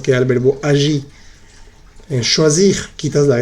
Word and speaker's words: choisir: Sí se pronuncia. Se dice finir, agir, choisir. Pronuncias bien la R al final.